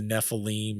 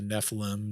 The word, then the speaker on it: Nephilim: the women of earth, and that became the Nephilim or the Nephilim, depending on your pronunciation.